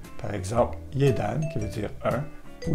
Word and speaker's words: jedan: Le J se dit comme un Y, comme dans yogourt. Par exemple, Jedan, qui veut dire un, ou la ville de Sarajevo en Bosnie-Herzégovine.